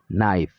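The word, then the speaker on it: knife: لکه نایف، نایف ته وګورئ تاسې. دغلته دغه کې توری نه تلفظ کېږي.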